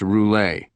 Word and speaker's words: Roulet: Okay, so we're here to talk about Louisis Roulette, aren't we? It's pronounced roule. Roule. Got it.